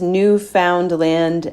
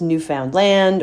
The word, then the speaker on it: Newfoundland: you are yes so newfoundland uh which is new found land and is often pronounced as new found land or newfoundland but newfoundlanders pronounce it newfoundland newfoundland